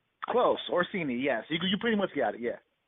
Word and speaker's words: Orsini: I'm terrible with pronunciation, so I got it right. Close. Orsini, yes.